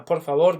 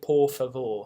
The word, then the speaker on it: por favor: Try not to say por favor. It's very easy to do when reading it out. It looks like it's spelled that way, but it's more of a por favor in the front of the mouth.